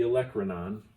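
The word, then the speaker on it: olecranon: hold on okay I had to get the pronunciation right it's the Electra non and that point of your elbow is actually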